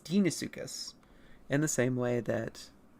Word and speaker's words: Deinosuchus: And then things like Deinosuchus is pronounced Deinosuchus.